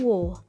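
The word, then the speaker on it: を: Partikel O dahulu diucapkan wo, tetapi sekarang lebih sering dilafalkan O saja. Sebagai contoh nomor 1, menunjukkan objek dari kata kerja.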